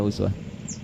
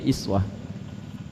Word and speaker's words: uswah: Tahu dari mana uswah? Kalau Anda main ke sebagian negara di Timur Tengah, mereka bacanya iswah.